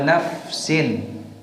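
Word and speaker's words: نفس: Ini dibacanya dengan mensukunkan fa-nya, ya. Ya. Karena dengan mensukunkan fa-nya wa nafsin, itu artinya apa? Jiwa. Lain halnya kalau dibaca dengan fathah fa-nya. Wa nafasin, ini beda maknanya.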